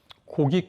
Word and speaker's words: 고기: 대해서 좀 소개를 해볼게요 이번 그 명절에 여러분들 고기 꾹 많이 드셨죠 이걸 어르신들은 회기 꾹 이라고 그래고 획 이라고 합니다 예 학교를 학교를 야